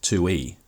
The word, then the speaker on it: Tui: and tu's description says Tui it's pronounced 2E is a self-proclaimed trash